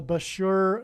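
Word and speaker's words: Bushehr: it will bomb the Bashur nuclear power plant and Bashur rhymes with Barker it is predicted that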